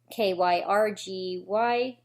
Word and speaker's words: Kyrgyzstan: He's 21 years old, and I'm going to pronounce this wrong. Kyrgyzstan? It's Kyrgyzstan.